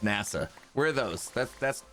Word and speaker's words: Nassau: and and nasa spelled like nasu but it's pronounced nasa where are those that's that's caribbean right or